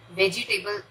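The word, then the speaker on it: vegetable: ये जो ई का साउंड है उसे हम प्रोनाउंस नहीं करते, वेजिटेबल, वेज टेबल, वेजिटेबल नहीं, राइट?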